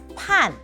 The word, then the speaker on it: 辦: 華語說辦理，口語上客語說判。